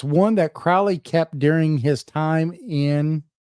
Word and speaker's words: Crowley: want to say also it's not Crowley it's Crowley crowy it with holy holy rhymes with Crowley it's hard to it